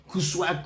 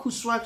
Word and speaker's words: Kuswag: Kuswag. I always call it Kuswag because that's how it is spelled.